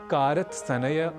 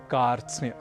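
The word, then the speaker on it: कार्त्स्न्य: प्रयास करना है और इसे कारत सनेय कारत स्नेह आदि ना कहकर हमें कहना है कार्स तो यह साधारण संयुक्ताक्षर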